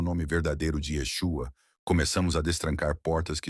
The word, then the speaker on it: Yeshua: Seu nome era pronunciado e escrito da forma, com som aproximado de Yeshua.